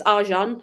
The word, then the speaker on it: Argent: Because I think it's Argent is how they say it. Like they don't pronounce the T because it's French.